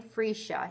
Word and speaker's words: freesia: I actually looked up how to say it because I wasn't sure how to say it, but it's Flowering Freesia.